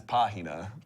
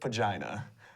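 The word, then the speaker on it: página: know if you know the Spanish word for pige it it is pahina but it is spelled p a i n a so I did not pronounce it pah I pronounced it pagina and she tried to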